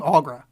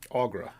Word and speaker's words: Aughra: Aughra. Aughra.